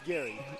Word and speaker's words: Gary: It is Gary. It's Gary. I had with asked a G, not a J.